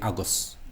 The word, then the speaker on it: agus: It should be Agus with the broad G.